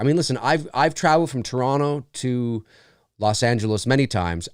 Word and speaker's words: Toronto: You always know a Canadian because they'll say Toronto. Americans tend to pronounce the other T, Toronto.